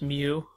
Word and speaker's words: mu: talked about mu this is how this is pronounced mu or m u yeah I know that I